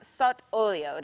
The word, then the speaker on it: sott'olio: So, tuna sott'olio, did I say it properly?